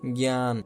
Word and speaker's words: জ্ঞান: এই বর্গীয় যে ইয় যদি শব্দের শুরুতে থাকতো তাহলে উচ্চারণ হতো গে। যেমন আমরা যদি বলি জ্ঞান, একটা শব্দ লিখলাম জ্ঞান, এটা উচ্চারণ করার সময় কি উচ্চারণ হতে হবে? জ্ঞান, দন্তন্য দিয়ে একটা হর্ষ দিবা, ঠিক আছে।